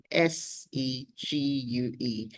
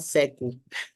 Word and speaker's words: segue: Segue. Se Gu. Let me type it. S E G U E. So it's called segue not sele which means to transition from one thing to the other.